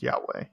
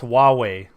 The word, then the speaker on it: Huawei: nothing crazy pretty sure that word is still pronounced Yahweh Yahweh Yahweh is what that yeah the Yiddish